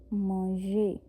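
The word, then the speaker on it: manger: ये ओरिजिनल अ इसमें फ्रेंच में तो मौजे मोंजे ए एन को हम आ बोलते हैं इ को हम प्रोनाउंस करेंगे और ये पूरा वर्ब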